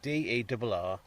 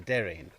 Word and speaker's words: Derreen: So it's spelt, you see on a map, it's the Derreen, D-E-R-R-E-E-N. So we'd say the Derreen.